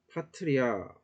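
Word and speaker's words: patria: 그래서 파트리아라는 단어가 있다라고 했을 때 이것도 역시 이렇게 3음절로 잘리죠. 이 3음절로 잘릴 때 강세가 어디 올까요? 그렇죠. 하나, 둘, 셋. 세 번째 강세가 이렇게 오게 됩니다.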